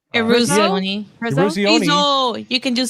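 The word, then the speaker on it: Eruzione: the guy that played Michael Urzioni, I think is his name, the captain. I always mispronounce it. I'm bad with Italian names. Eruzioni.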